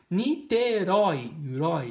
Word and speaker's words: Niterói: oxítona funil na funil é funil a última sílaba tônica oxítona niterói na niterói e não na niterói não niterói